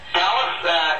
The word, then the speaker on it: Calais: Just like Calais, France, only pronounced Calais.